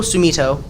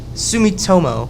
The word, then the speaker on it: Sumitomo: vegeta while this amazing score written by norjito sumito i think that's how you pronounce that i'm not sure at all i